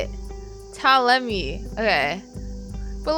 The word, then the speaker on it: Ptolemy: Ptolemy.